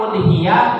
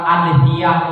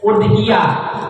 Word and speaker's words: udhiyah: Lafaz udhiyah bidomil hamzah, bukan adhiyah, bukan idhiyah, tapi dibacanya udhiyah. Ya, didomahkan hamzahnya udhiyah.